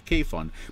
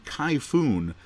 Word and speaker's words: Kayfun: just calls it the kayfun but the actual name of it is much like the typhoon that we have this is actually a